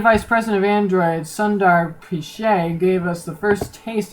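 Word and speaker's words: Pichai: while ago Cen Vice pres of Android Sundar piche gave us the first taste of Android L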